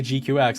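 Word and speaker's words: GQuuuuuuX: And I say GQX and that is the name of the show, but it is spelled GQ u UX.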